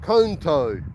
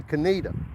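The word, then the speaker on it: Conetoe: You would think it would be pronounced conto, but it's actually canita.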